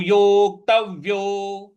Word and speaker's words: योक्तव्यो: तो यहाँ पे जो आधा व है उस पे भी हम बल लगाएंगे। तो योक्तव्यो। योक्तव्यो।